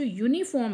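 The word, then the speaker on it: uniform: वो इसीलिए क्योंकि यहां पे ये जो यूनिफॉर्म है ये अपनी खुद की यू की साउंड ना देकर वाई की साउंड दे रहा है और वाई एक कंसोनेंट है।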